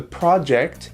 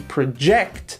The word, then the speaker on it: project: and a verb okay the project the stress is on the first syllable and project the verb it's on the second syllable okay so after reviewing the project we project a growth of 15